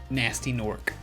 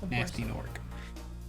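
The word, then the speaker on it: Gnasty Gnorc: an episode and then this fella's name is nasty nork ah but it's spelled g-n-a-s-t-y of course it is and then g-a-n-o-r-k nasty nork uh i don't know why but he's a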